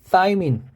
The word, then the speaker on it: 타이민: 그 다음에 타이민, 이렇게 혀를 깨문 발음이죠. 타이민이라고 써도 되고요. 뭐 티민이라고도 있는데 정확한 발음은 타이민이 더 맞겠죠.